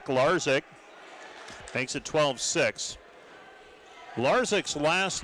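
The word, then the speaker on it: Lazic: Attacking from the outside and getting the kill is Peter Larzik. Larzik makes it 12-6. Larzik's last name spelled l a z i c but pronounced Larzik.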